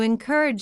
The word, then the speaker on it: encourage: In simple words, when you encourage someone, you help them believe they can do it. Pronunciation encourage, you can break it into parts. N age. The stress is on the second part.